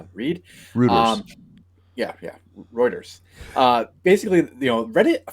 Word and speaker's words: Reuters: it's from reuer I know Dylan thinks it's pronounced Rutters that because he doesn't know how to read yeah yeah Reuters uh basically you know Reddit filed it for